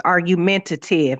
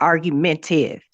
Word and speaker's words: argumentative: It's argumentative, not argumentive.